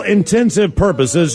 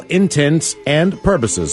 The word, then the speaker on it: intents and purposes: make you sound dumb for all intensive purposes should be intense and purposes intense as in intentions the correct way to say that is for all intents and purposes that is correct what